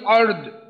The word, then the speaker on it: الأرض: এইখানে এসে একটু সমস্যা, র এর উচ্চারণও করতে হবে, দদের উচ্চারণও করতে হবে। তো দদও মোটা, রও মোটা, এখানে র মোটা, দদ মোটা। তো শেষে গিয়ে দদের উচ্চারণটাও হবে, তবে দদের উচ্চারণটা অতটা শক্তিশালী করা সম্ভব না, যেহেতু দদ একটা ভারী উচ্চারণ, মোটা ধরনের উচ্চারণ। আদ আদ এইভাবে।